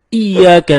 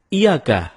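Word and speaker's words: إِيَّاكَ: nabudu wa iyyaka nasta'in ada yang membacanya dengan Iyakah tidak menekan huruf Ia seperti seperti sebagaimana kita jelaskan tadi bahwa penekanan itu dapat merubah makna kalau kita baca iyakanabudu dengan menekan huruf ya maka artinya menjadi kepadamu lah kami menyembah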